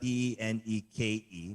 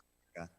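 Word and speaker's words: Tineke: It's spelled Teneke, but it's pronounced Tineka.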